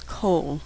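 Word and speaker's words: כל: be an R sound the most common word that uses this unusual pronunciation is coal which means all just like Putta comments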